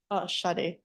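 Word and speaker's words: Sade: I don't know if this is pronounced Shade or Sadie. Shade. Shade.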